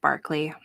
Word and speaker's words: Berkeley: their governor governor William Barkley spelled Berkeley but pronounced Barkley I don't know why